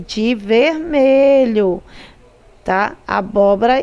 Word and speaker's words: abóbora: é acentuada por quê nós temos abóbora ó acentuada na terceira sílaba antepenúltima vermelho é paroxítona é obrigado a ter assento lâmpada proparoxítona abóbora proparoxítona abóbora proparoxítona lâmpada